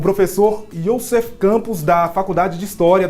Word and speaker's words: Yussef: a gente nós convidamos um especialista, o professor Youssef Campos da Faculdade de História da Universidade Federal de Goiás.